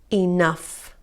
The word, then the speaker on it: enough: estás más cas hola enough que ya estas palabras lo que tienen en común es que la combinación gh se pronuncie como efe ok esto es muy importante